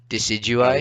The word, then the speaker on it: Decidueye: Decidueye. You're obsessed. Okay, good. You know how to pronounce it.